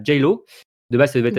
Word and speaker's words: Geilo: en Norvège, donc à Geilo. De base, ça devait être à Sushen, Gaëlo. mais alors comment on dit, Aurélie? Gaëlo. Geilo. Ok, Geilo. Ouais. Donc voilà pour la bonne prononciation.